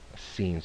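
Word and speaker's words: שׂ: And with the dot over here to the left, that is Sin, so we pronounce that with just a regular S or sa.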